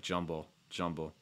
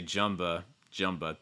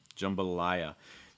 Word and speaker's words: jambalaya: of your tongue down it's like jumble jumble um but you could also say jumba jumba too you may hear that as well jambalaya key stress though is going to be on that third syllable slick jumbo lie i just like that i sound like for the pronoun i and then uh ending with another schwa sound so you can get three schwa sounds in here jumble and